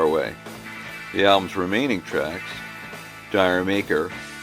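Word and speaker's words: D'yer Mak'er: The album's remaining tracks, Dire Maker, which Robert Plant pronounces as Jamaica, Dancing Days, The Ocean, and The Crunch are all equally fantastic.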